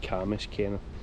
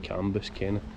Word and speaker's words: Cambuskenneth: that's kamus kenneth abby you'll notice i'm saying kamis kenneth and not canvas ken a camis a being